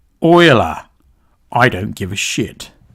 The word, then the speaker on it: Euler: Korea was behind this it's pronounced Oiler I don't give a EULA love Euler potato tomato tomato okay